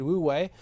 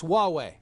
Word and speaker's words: Huawei: in my consciousness because I pronounced it wrongly before I joined you there I said we way and it's Huawei and I've heard that